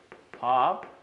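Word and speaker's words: 밟: 하나는 밥, 하나는 넙입니다. 이게 왜 문제가 되나요? 기본적으로 리을 비읍은 리을로 발음하는 거라고 외워두세요.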